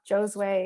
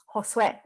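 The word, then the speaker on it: Josué: book said, you know, y'all are saying my name wrong. It's not Josue or Josue, it's Josue.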